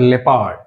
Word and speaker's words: leopard: So ఇందులో leopard. O అనేది ఎప్పుడు సైలెంట్, ఈ వర్డ్లో O అనేది సైలెంట్, సో leopard.